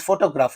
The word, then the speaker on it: photograph: It is because you know uh here in this photograph know only the first syllable receives the stress but